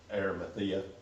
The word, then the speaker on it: Arimathea: his spirit and with pilate's permission Joseph of arameth pronounce that for me Joey so I don't butcher it Arimathea Arimathea I was about to say that but